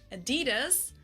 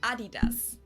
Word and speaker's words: Adidas: were referring to, because they usually pronounce it Adidas, and in Germany we say Adidas.